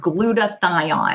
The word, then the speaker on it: glutathione: So between the gluten-free and dairyfree and also the glyo, how do I pronounce it again? Oh, glutathione.